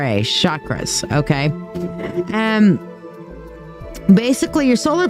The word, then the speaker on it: chakra: how that's how it uh that's how it is spelled c h a k r a chakra um it sounds like chakra with s h o c k but c h a k r a chakras okay and basically your solar flexus chakra uh